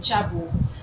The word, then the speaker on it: jabot: so today we are making swags swags and Jabo Jabo is spelled j a b o t s plural